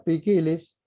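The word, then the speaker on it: ποικίλος: Miren ustedes, allí está la palabra que se lee poikilos, pero se pronuncia pikilis.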